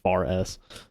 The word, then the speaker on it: Fares: sense because it's like Fares, so it's like Fares, so it's pronounced Oh, I said Fares. Ferris, didn't I?